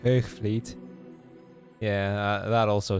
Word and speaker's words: Hoogvliet: Hoogvliet is how you pronounce that. Now, I will have said it with a fairly southern Dutch accent, which to Weech may sound a little... Well, I mean, he knows where I'm from, so he knows, but it's probably not how you actually pronounce it around there. Yeah, the soft G is, yeah, V is in the second syllable.